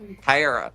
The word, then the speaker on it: Tara: Tara. Like Sarah. It's like Sarah, but Tara. Tara, right. Tara. It's your vowel pronunciation.